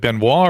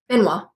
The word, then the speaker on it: Benoit: Is it Benois or Benoi? Benois.